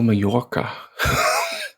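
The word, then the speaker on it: Mallorca: how do you spell mayorca ma Y is that right it's a y sound isn't that too L's in Spanish oh and is sorry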